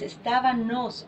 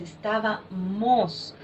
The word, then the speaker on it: estábamos: personas que dicen estábanos, no es estábanos, es estábamos.